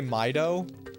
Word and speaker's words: Mido: Thank you for pronouncing mido like sulfage syllables. How else have you heard mido pronounced? Do you hear people say maido?